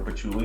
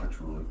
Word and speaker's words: patchouli: Or patchouli, not patchouli. Patchouli.